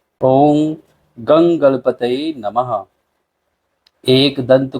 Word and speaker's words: गं: हो गण के आदि अर्थात ग कर पहले उच्चारण करें उसके बाद वर्णों के आदि अर्थात अ उच्चारण करें उसके बाद अनुस्वार उच्चारित होता है इस प्रकार अर्ध चंद्र